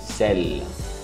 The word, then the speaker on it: sel: Sal, sel, pronuncia desse jeitinho, sel.